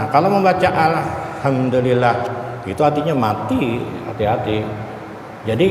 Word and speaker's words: Alhamdulillah: Ain kannya di sini nah alham Alhamdulillah kalau kadang-kadang yang salah tuh ada juga bacanya takah hidung takah hidung kayak sengau orang Jadi alhamdulillahnya ainnya itu dibaca Taka hidung Taka hidung n baca Taka hidung itu kadang-kadang allahuam bawab